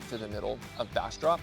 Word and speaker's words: Bastrop: Okay, so Bassrop, which it's spelled Bassrop, like B A S T R O P.